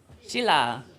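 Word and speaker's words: śīla: Shila. The S with the accent.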